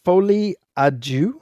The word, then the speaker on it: Folie à Deux: Arthur Fleck uh Joker Foley auu is that how this is pronounced yeah I believe so okay a du a